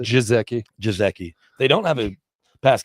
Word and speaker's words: Gesicki: How do we pronounce it? Jizeki.